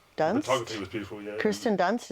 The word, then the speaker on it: Kirsten Dunst: Kirsten Dunst, is that how you say her name? Yes.